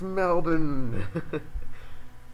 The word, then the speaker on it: Melbourne: He's like, yeah, I'm from Melbourne. And I was like, he was he's- actually Chinese too. yeah, and he's like, from Melbourne. I was like, it's Melbourne.